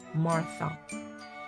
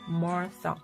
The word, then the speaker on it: Martha: Martha. th 발음은요. 번데기 사운드를 해주시고요. Martha 이렇게 해주시면 되겠습니다.